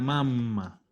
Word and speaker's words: mamma: Y la mamma. Siempre con doble M, pronunciando. La mamma.